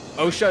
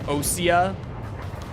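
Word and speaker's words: Osea: it called what country OSHA is supposed to be or sorry oia seems to be the new way that we're supposed to say it like all the newer games have started saying oia I'm just uh what's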